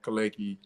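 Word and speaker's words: Kelechi: same wwk government Facebook is my real name kalecki it's spelled k-e-l-e-c-h-i so that's my real name but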